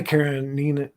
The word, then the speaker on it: Karenina: vampire Hunter uh Android uh wow I can't pronounce that word Karan thank you Anna Anna Karenina Karenina Yeah Anna Karenina was a a famous